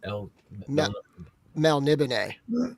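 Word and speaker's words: Melniboné: Like the first book of Eric of Melnabet, how do you say it? El Mel Nib. That's how the audio book guy when I was listening to the audio book of it.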